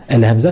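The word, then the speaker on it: همزة: Al-Hamza qui est très facile à prononcer, puisqu'en français, c'est comme les voyelles en français, le A, le I ou encore le OU.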